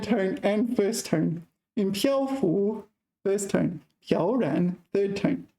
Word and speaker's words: 漂浮: In 漂浮, 1st tone.